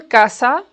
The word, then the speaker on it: casa: For example, casa. Casa. Did you notice the difference? Ka is stressed.